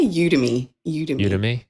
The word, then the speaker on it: Udemy: it's it's on udemy is that how you say it udemy we say you to me it's u d e m y and you can find